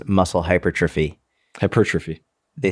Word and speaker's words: hypertrophy: not the accent, but the emphasis. That's what the word I'm looking for. Oh, the second syllable. Yeah. The second syllable. Yeah. Hypertrophy.